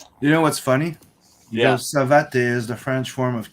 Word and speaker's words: Savate: So it's Savat or is it Savate? Savate. Savat. Okay. Mm-hmm. All right. Because I always said Savate, but I guess the E at the end is silent.